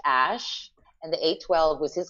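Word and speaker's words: Æ: is uh x-a-e a12 and the ae pronounced ash and the a12 was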